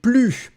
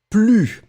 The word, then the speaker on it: plus: Remember, you don't pronounce the S at the end of plus. Hein? Ne, your verb, and plus.